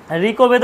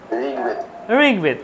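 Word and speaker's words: ঋগ্বেদ: ব্যঞ্জন কটা হচ্ছে ব্যঞ্জন তাহলে ঋকে যখন উচ্চারণ করবেদা তাহলে বলছি ঋবেদ বলছি ঋবেদ নিশ্চয় বলছি না ঋবেদ বলছি আমরা কেউ আপনারা একটু মাঝে মাঝে একটু পার্টিসিপেট করবেন তাহলে খুশি হব ভালো লাগবে ঋবেদ বলি না ঋগবেদ বলি বলুন কি বলি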